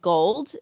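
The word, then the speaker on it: Golde: another black-owned beauty brand there's a brand called gold and it spelled like gold but with an e at the end and gold has this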